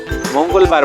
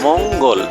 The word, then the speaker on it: মঙ্গল: মঙ্গলবার বানান দেখো ম উগ, উগ এখানে যুক্ত অক্ষর আকারে আছে, ম উগ ল, মঙ্গল।